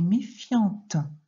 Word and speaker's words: méfiant: Et au féminin, si c'était une fille, on dirait qu'elle est méfiante. Donc, tu dois comprendre qu'il y a une lettre muette à la fin de méfiant.